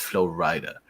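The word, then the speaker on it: Flo Rida: And during the event, um, Flow Rider, or Flow Rider, I said it wrong. I said Flow Rider. It's Flow Rider because he's from Florida, so he Hmm.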